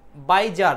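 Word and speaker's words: bizarre: আচ্ছা দেখেন এখানে দেখেন বাইজার তাই না বাইজার এটা হচ্ছে বাজারের মত উচ্চারণ আছে না এই শব্দটার বাজারের মত একটা উচ্চারণ আছে।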